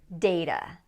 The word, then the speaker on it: data: Next, data. Data, or some people say data.